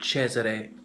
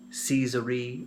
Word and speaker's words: Cesare: pronunciation of his name it's the Italian pronunciation of Caesar and Bek Aria tried to accentuate it correctly doesn't really matter I often hear people saying Caesar II or their carrier things